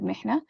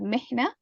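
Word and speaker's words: محنة: Mihna with a ha. Okay, so this is why pronunciation is also important. You have to be able to distinguish between ha and ha.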